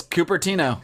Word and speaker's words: Cupertino: That is Cupertino.